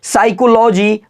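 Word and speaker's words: psychology: जानने वाले हैं तो पी साइलेंट कब होगा तो रूल देखिए ए से पहले आया पी साइलेंट होता है ए से पहले जो आएगा पी बिल्कुल साइलेंट होगा किसी वर्ड में भी देखिए आपके सामने उपस्थित है याद रखिएगा ए से पहले आया पी बिल्कुल आवाज़ नहीं निकलेगा तो इसको क्या पढ़ते हैं तो ध्यान से देखिए साइकोलॉजी पढ़ेंगे इसको अगला देखिए ए से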